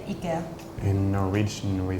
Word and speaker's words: IKEA: it's more maybe Ika in Sweden we say Ika in America we say Ikea in Denmark we say Ika in Finland we say Ika in Norwegian we say